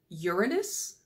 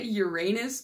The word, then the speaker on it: Uranus: to tell me in the comments, do you pronounce it Uranus, which I think is the correct way, or do you say Uranus because we're all 14-year-old boys at heart? I definitely say Uranus, so that's what we're gonna go with.